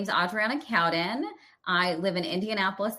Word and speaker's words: Adriana: Hi Adrien. How are you doing today? I'm good. Thank you. It's actually Audriana but that's okay.